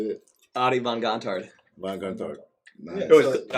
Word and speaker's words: Adie von Gontard: Adie von Gontard.